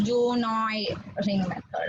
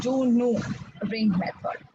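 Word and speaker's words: Du Noüy: Juno ring method okay it is not pronounced as Junoi ring method okay it's a French person it is pronounced as Juno ring method so now here picture में you all can see the apparatus, right?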